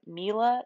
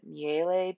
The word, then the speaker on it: Miele: so my parents have a mila is how my mom pronounces it and i guess that's how the company pronounces it i keep getting stuck wanting to pronounce it miele because it looks like an italian name and i took italian in college and i i'm also